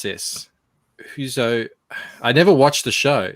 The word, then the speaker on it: Housos: Bancroft, it's Housos. So Housos.